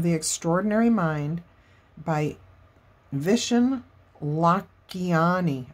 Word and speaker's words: Lakhiani: It's called The Code of the Extraordinary Mind by Vishen Lakhiani. I said it wrong last time. It's Lakhiani, I believe is how you say it.